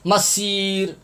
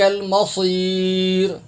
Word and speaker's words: المصير: یہ صاد کے اوپر آپ گول دائرہ دیکھ رہے ہیں، یہاں پر اکثر حضرات سین پڑھتے ہیں، سیٹی کی آواز نکالتے ہیں، سین پڑھتے ہیں. مسیر مسیر، یہ تلفظ بھی آپ دیکھ لیں.